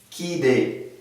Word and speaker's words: orchidée: On a dit que lorsque CH précédé d'un R ou suivi d'une voyelle comme O, ici, elle se prononce K. Par exemple, orchidée.